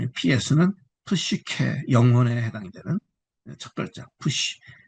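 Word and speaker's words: ψῖ: 그다음에 푸시 푸시 푸시는 PS가 PS 푸시 복합입니다. 그래서 PS는 푸시케 영혼에 해당이 되는 첫자 푸시 예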